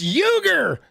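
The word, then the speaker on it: Uygur: Dude, he should pull a It's Uger.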